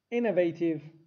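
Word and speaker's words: innovative: چک کنم کنم کنم اینوتیو اینوتیو استرس روی بخش اول است اینوتیو ابتکاری ابداعی خلاق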